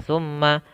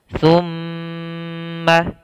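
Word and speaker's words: ثُمَّ: summa, pada lafal summa, hati-hati sahabat jangan langsung dibaca summa, tapi di sini ada namanya hukum bacaan gunnah, yaitu ketika kita dapati ada huruf mim yaitu berharokat tasydid, maka kita tahan dulu suara amnya, summa, baru dibaca ma-nya. Kita tahan 2 harokat.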